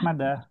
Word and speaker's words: Ahmada: Kalau Ahmadu Ahmadun itu ya. salah. Nggak yang benar Ah, Ahmada.